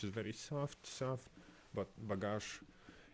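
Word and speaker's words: багаж: soft their language is very soft stuff but bagash it's you have to pronounce is more harsher more stronger and yes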